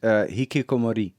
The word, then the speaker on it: Hikikomori: Hikikomori. Or I should pronounce it better. I think it's Hikikomori. Hikikomori.